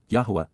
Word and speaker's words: Yahweh: humanity indeed because KY Yahweh Yahweh the proper pronunciation of the name of eloah God as directed in